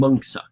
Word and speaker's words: Mencius: But their names are more correctly pronounced Confucia and Mengsa.